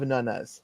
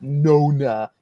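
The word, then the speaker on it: nonna: mother's Italian I have nunas that's not how you say it it's nun it's not Nona it's nun I mentioned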